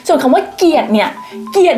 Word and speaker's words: เกลียด: คำ ว่า เกลียด เนี่ย เกลียด เนี่ย ยาก จริง ๆ เกลียด เพราะ ว่า ภาษา ไทย อ่ะ มัน ต้อง เชื่อม เสียง เลย นะ แบบ เกลียด อ่ะ กี่